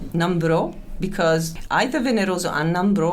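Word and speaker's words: Nambrot: So that's spelled N A M B R O T. NROT say NRO. Numbro because either Veneros and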